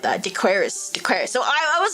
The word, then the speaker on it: Decoris: Dequaris.